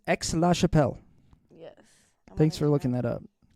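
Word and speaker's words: Aix-la-Chapelle: 99% of the time it's pronounced X oh it's X La Chappelle yes thanks for looking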